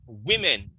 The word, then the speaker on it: women: the word is we women not women women so it is w o but it's pronounced w i we women teeth and